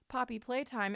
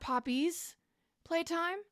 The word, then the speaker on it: Poppy Playtime: knowledge first what is Poppy playtime and did you know it's not Poppy's playtime I was saying it wrong for years years poppy play time